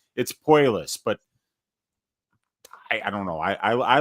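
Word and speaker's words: Puelles: It's not Claudio Puelli's either. It's Puelis, but I don't know.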